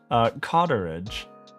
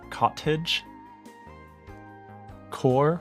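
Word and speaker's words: cottagecore: That's not how you say it. Cottage? Cottage? Core?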